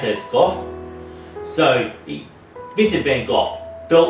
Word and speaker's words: Van Gogh: And what I'm going to read about is Vincent Van Gogh, or Vincent Van Gogh, so I'll pronounce it as Gough.